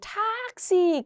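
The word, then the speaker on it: Taxi: 그러면 모음 뒤에 자음의 개수가 두 개 이상이면 길게 읽어야 되는 게 아니라 짧게 읽어야 되니까 얘를 읽을 때 탁시 길게 읽는 게 아니라 탁시라고 짧게 읽으셔야 됩니다.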